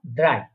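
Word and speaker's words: drei: তারপরে হচ্ছে পরের সংখ্যা ড্রাই, ড্রাই বা 3 যেটা আমরা ইংলিশে বলে থাকি 3 বা 3 বাংলাতে বলে থাকলে সেটাকে রয়েছে বলা হচ্ছে ড্রাই, ড্রাই, ড্রাই মানে হচ্ছে 3।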